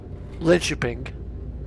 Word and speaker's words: Linköping: So we've got 113 kilometres to go as we make our way up to Linköping, or Linkoping, but I think it's pronounced Linköping.